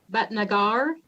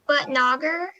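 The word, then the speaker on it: Bhatnagar: the roll youth legislator but nagar no that's not right how do you say your name again it's butt nagger youth legislator butt nagger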